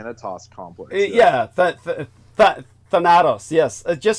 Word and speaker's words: Thanatos: So the term Thanatos complex, or I believe that's as correct a pronunciation as I can muster, close to the original Greek, would be Thanatos complex.